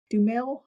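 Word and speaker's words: Duhamel: Uh, is it Josh Dumel. Dumel? Yeah, that's how you say it.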